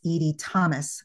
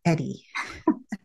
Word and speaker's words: Edie: Yes, and it's with an E, and it's Edie with 1 D. It's not Eddie.